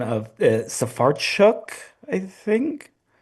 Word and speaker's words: Sfarcioc: by phone pronunciation of Safaruk? I think uh safar choke. So um it's kind of like s u h s then uh far f a r and then choke.